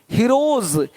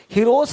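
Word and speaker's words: heroes: यदि किसी शब्द के अंत में एफ पी पी टी आदि वर्ण हो तो एस का उच्चारण स होता है। जैसे कि यहाँ पे रूप्स, यहाँ जा साउंड नहीं आएगा, लेकिन यहाँ पे एक्स नहीं एग्स। हीरोज, हीरोस नहीं, देख रहे हो, रुपीस नहीं रुपीज, ज का साउंड आ रहा है हल्का सा।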